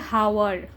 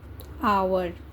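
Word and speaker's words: hour: पता है क्या उच्चारण इसको आप बोलते हैं हावर क्या बोलते हैं आप लोग हावर लेकिन इसका प्रोनंसिएशन क्या होगा पता है इसका उच्चारण होगा आवर बहुत अच्छे से इस एग्जांपल को देखना है ठीक है मतलब यह जो एच है ना यह एच है साइलेंट ठीक है तो हम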